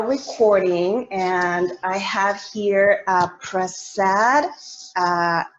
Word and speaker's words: Prasad: we are now recording and I have here press sad right is that how you pronounce it yes good and so thank you